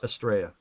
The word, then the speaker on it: Estrella: Are you saying Estrella Mountains? Estraa. Oh, okay. It's spelled Estrella. Okay. Yeah. I just like I was spelling it more like a Treyu. Oh, like a Treya.